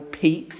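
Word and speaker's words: Pepys: how to pronounce Samuel peeps it doesn't look like it's spelled but um I did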